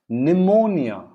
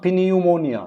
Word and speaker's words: pneumonia: psychology then you have pneumonia not pineal ammonia it's not pineal ammonia